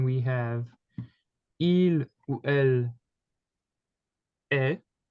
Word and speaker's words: est: And then we have il ou elle est. Same pronunciation as tu es, even though there's a letter at the end, it is mute, okay?